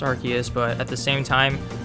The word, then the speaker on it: Arceus: who you ask i'm just going to say arceus i know it's technically pronounced arceus but at the same time we all know